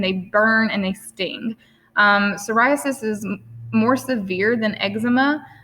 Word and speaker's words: psoriasis: psoriasis so i know has a p at the beginning but the p is silent so it's psoriasis and in the image